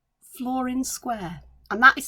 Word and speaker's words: Flor-In-Square: that is new to me and it's called flooring square and that is spelled f-l-o-r dash in dash square and it